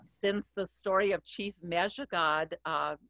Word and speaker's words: Mishicot: And since the story of Chief Mejigod, Mishicot, it's pronounced Mejigod, the original pronunciation of Mishicot, and the Potawatomi